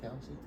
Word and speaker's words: Kelce: Technically his name's actually not Kelsey. His last name? Tell me how you say it. It's Kels.